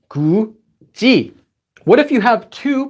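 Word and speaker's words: 굳이: This one has this letter followed by E, so it becomes 구지, 구지.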